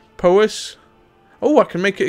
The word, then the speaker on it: Powys: This is pronounced Powys.